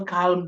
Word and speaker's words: calm: half come down no calm down calm down calm down the letter L is completely absent it's lost when it is when it comes to pronunciation calm down bomb bomb not